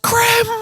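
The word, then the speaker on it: crème: The cream incident actually boosted their views, plus the facts are on their side. No one cares about facts! It's pronounced creme.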